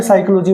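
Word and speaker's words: psychology: तो यहां पे साइकोलॉजी में पी क्या रहेगा? साइलेंट रहेगा।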